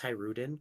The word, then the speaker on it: Hajrudin: Oh, it's it's it's Hajrudin. Wow, that's easy. Okay. All right, his name's Hajrudin.